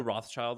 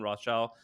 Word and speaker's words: Rothschild: So, do you know who Rothschild is?